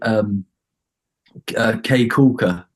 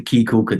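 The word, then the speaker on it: Caye Caulker: There's a place called K Kulka, or the Key Kulka, depends on the locals pronounce it differently, but I was meant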